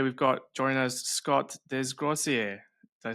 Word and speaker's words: Desgrosseilliers: Myself, Alex, Jake, and today we've got join us Scott Desgier. Did I say that right, Scott? Beautiful, man. Butchered it right.